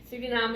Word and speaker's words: Suriname: you heard me sing surinam surinam srinam is the dutch pronunciation so in order for